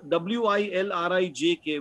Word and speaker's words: Wilrijk: So later on, I realized that the J in their language is pronounced as a vowel sound, as a Y.